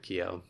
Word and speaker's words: Kyo: feel I don't know I feel weird if I if I were to pronounce it like that I feel like people would be like croissant and people judge you for that yeah exactly so we just stick with Keo got it and so